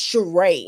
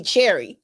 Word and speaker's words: Cheray: like my name is cheray and people we correct like pronouncing it wrong ch is a sh sound and r a e is right so where is all these